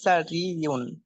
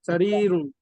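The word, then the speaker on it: سريرٌ: যালিকা সারিয়ুন সারিরুন, সারিরুন শব্দটা, হ্যাঁ, যালিকা সারিয়ুন টান হবে, সারিরুন।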